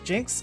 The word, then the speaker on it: Cenk: uh We've also got sinks giving sinks Jinx giving I know how to pronounce his name I know that his name's not sink it's Jin Jin Huger Jen Huger and